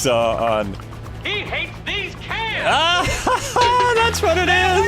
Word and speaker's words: Cairns: Just don't pronounce the R in cans. Yeah, that's what I heard before. Not Cairns, cans.